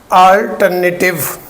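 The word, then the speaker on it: alternative: 2 होते हैं, लेकिन इट हैज़ 4 सिलेबल्स, इसमें 4 सिलेबल्स हैं। और इसकी प्रोनाउंसिएशन जो है अल्टरनेटिव नहीं है, बल्कि कैसे है, अल्टरनेटिव। नेटिव की साउंड नहीं आएगी, टिव की साउंड आएगी, टिव।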